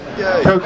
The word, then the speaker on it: Koch: See, most people have heard of the Koch brothers here. Coke is not K. It's not C O K E for anybody who doesn't know them. It's K O C H.